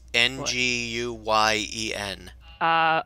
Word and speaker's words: Nguyen: forget how to pronounce ng u y en crap oh is it win no Nikki hmm Wow there was like three people actually that name is pronounced differently depending on where you were from if I remember correctly